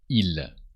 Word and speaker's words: ils: So they men in French is il with a silent S. There's an S, but you don't pronounce it.